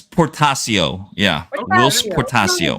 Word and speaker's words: Portacio: Which name? Portacio? It's Portacio. It's Whilce Portacio.